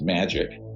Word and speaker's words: MAJIC: the majority intelligence committee majic is pronounced magic ironically uh or not ironically